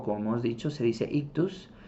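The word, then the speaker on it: ΙΧΘΥΣ: En griego se pronuncian ictus, y ahorita vamos a ver qué significan cada una de estas letras.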